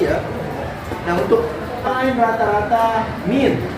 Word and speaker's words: mean: Nah, untuk lain rata-rata min, tulisannya mean, dibacanya min.